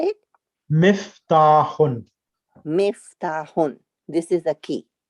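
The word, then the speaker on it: مفتاح: Haza Maftahun. Miftahun. How do you say it? Miftahun.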